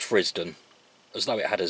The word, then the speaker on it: Frithsden: can see it's spelled frith's done but it's pronounced frisdon as though it had a zed whether or